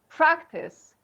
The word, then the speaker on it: practice: also as a verb so as a noun this goes on the first syllable so we say practice but as a no